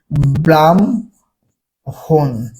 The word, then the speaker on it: ব্রাহ্মণ: এটা থেকে প্রশ্ন থাকেই এখন ব্রাহ্মণের দেখেন এই যে প্রথমের যে আছে বা ধরার দরকার নাই মানে ওটার কথা বলছি না আমি বর্ণের উচ্চারণের কথা বলছি মানে শব্দের প্রথমে যুক্ত ব্যঞ্জন কি হয় না উচ্চারণে মানে ভাঙ্গা হয় না তারপর দেখেন হম এখন হম থাকলে কি ম এর উচ্চারণ আগে হবে আর হ এর উচ্চারণ পরে হবে তাই এখানে কি ব্রাম হন ব্রাম কি হন বাম